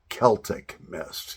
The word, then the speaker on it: Celtic Mist: You're pronouncing it wrong. The correct pronunciation is two friends, Celtic Mist. Got you guys on that one. Yeah. So Celtic Mist, actually, when I first started my YouTube channel, I did a tobacco review and I called it Celtic Mist. And there were many people that were quick to respond to correct me on the correct pronunciation. It is Celtic Mist.